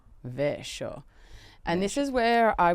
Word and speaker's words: Vescio: As we get Vescio, but how is it actually pronounced? It should be Vescio. Vescio.